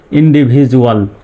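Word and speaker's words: individual: ভি আই ভি ডি ইউ এ L, Jual, ইন্ডিভিজুয়াল। ডি ইউ এল এখানে জুয়াল হবে, dual হবে না, ইন্ডিভিজুয়াল।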